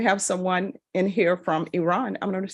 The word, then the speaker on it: Iran: Paul from Cincinnati and he said it's Iran not Iran and you know what he is correct so the next time we have someone in here from Iran I'm going to say